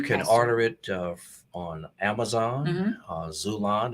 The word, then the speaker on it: Xulon: You can order it on Amazon, Zulon, and Zulon is spelled Xulon, Barnes and Noble, Walmart.